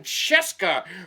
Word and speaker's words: Scieszka: wolf as told to john cesca rhymes with fresca illustrated by lane smith